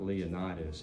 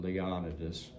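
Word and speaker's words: Leonidas: said Leon do poke and that's how he pronounces it not leonitis he the family pronounces it leonidus poke is going to go from Columbus Kentucky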